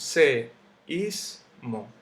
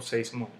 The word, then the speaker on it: seísmo: Tenemos seísmo, 3 sílabas. Yo no digo seísmo, yo no digo seísmo, yo digo seísmo. Por eso se le pone la tilde ahí.